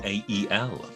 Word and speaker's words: Mael: Without giving anything away, I've got a best of album of these, and it's actually called Male Intuition, but it's spelt like male is, like their name. So Mael.